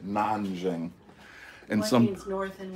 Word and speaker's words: Nanjing: isn't it ning no it's nonan n a n j i n like Beijing naning and one means North